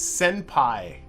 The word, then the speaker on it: senpai: It's senpai. Okay. Now that it's, I see, now that I've been told it's Japanese, that pronunciation makes a little more sense.